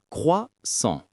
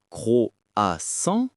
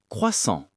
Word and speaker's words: croissant: La prononciation correcte est croissant, pas croissant, pas croissant, juste croissant. Un son simple mais typique du français.